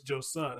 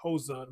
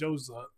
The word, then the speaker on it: Joassaint: And I said her name wrong. It's Joassaint. I thought it was Joassaint, but it's Joassaint.